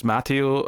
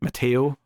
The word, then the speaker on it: Matteo: Uh Javanni's got a little moment as well where she clearly thinks Matio or sorry Matteo to pronounce it correctly.